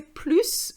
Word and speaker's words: plus: de gato to plus right at the end and you pronounce the s we're going to say plus when we want to compare but we are going